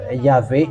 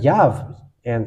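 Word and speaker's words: יהוה: here we can say why the yve is false yve is not in the reading because uh at least it should be yav and it the end is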